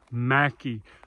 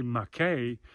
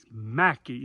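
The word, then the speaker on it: Mackay: a chance come to Mackie the locals tell you don't say McKay although it's spelled m-a-c-k-a-y Mackie if you say McKay they will correct you and this gentleman right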